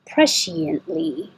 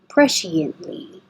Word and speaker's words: presciently: presciently press she andly you don't have to say the T because you're n and T and L are all made in the same place so you just put it up for the end press she and Lee penultimate penultimate pen note